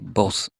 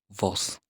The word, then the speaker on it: vos: Take note, V is pronounced as B in Spanish. So, we say vos, not vos.